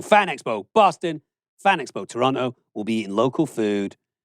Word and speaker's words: Toronto: we head to Toronto which the locals say Toronto Toronto Toronto